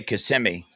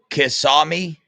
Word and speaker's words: Kissimmee: Am I not saying it right? I say Kissimmee. That's how I've always heard other people say it too. Kisami. That's how I'm supposed to say it.